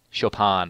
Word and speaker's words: Chopin: Chopin, I guess it's pronounced.